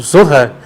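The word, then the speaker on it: זוהר: aqui lendo o Zohar, o Zohar, que é a forma correta de ser pronunciada a palavra, Zohar, que significa radiância, esplendor,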